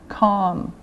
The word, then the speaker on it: calm: a not not Cal calm now again no sound calm cop cop caught caught